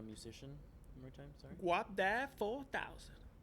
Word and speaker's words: Guapdad 4000: Guapdad 4000. Wapdat 4000. Guap. Think Wap Guap.